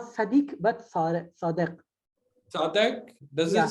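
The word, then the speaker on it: צדיק: It is the right pronunciation, صادق in Hebrew? In Hebrew it's Sadiq, yes, Sadiq.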